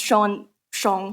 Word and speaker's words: Xiong: So my last name, Xiong, it means bear in Chinese, and it's pronounced Xiong, however you choose.